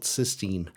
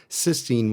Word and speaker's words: cysteine: And yes, conveniently for everyone, they're both pronounced the same way. Almost a century later in 1899, cysteine was isolated as a breakdown product of proteins.